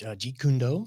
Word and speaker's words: Jeet Kune Do: before you were graphic designing, before all this pronounce what the martial arts was? Oh, which Jeet Kune Do?